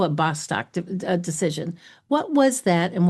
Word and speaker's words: Bostock: So for the listener, it's Bostock. So we'll call it Bostock decision.